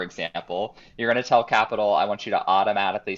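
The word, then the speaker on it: Qapital: actually a phone app it's called capital q a p i t a l i usually call it all the time but i guess they pronounce it capital whatever um and it's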